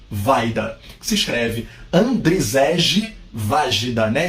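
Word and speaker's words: Wajda: diretores buscamos falando do mentor do mestre Andrei vaida se escreve andreseje vagina né SJ com som de i então estamos falando de André e vaida polonês e a dica que eu vou dar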